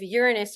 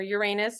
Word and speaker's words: Uranus: Um and then 3 days later we have this big planetary shift that I briefly mentioned of Uranus or Uranus, however you choose to pronounce this planet, switching signs and switching elements.